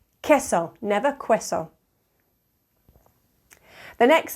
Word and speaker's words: queso: SE pronuncia pay planta the Q is a coup as in queso queso notice I'm not saying queso the U after a q is always silent after a u after